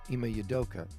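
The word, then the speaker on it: Ime Udoka: Yudoka, Ima Yudoka.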